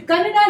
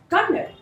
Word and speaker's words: Kannada: of the name s it's not Canada it is Canada Canada say it with me Canada Canada that's good so what